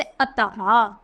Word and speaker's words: अतः: आता है विसर्ग, जैसे अतः, निसंदेह, प्राय, प्रातः, स्वतः आदि। तो विसर्ग का उच्चारण हा की तरह होता है, जैसे अतः, प्राय।